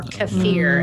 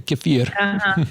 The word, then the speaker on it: kefir: out of it, or kefir as it's pronounced. As the Russians say, kefir.